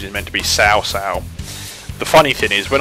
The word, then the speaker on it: Cao Cao: person who does the commentary for the introduction pronounced south sales name is Cao Cao that's actually incorrect his Panetta's pronunciation it meant to be sau sau the funny thing is when I was a